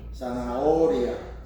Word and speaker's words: zanahoria: Zanahoria. Zanahoria. No H. Remember the H is silent.